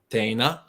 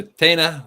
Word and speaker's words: tēnā: "thank you very much," which is tēnā, which has the E with a macron and the A, so TENA, tēnā rawa atu koe.